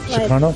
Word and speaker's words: Sukarno: Sukarno?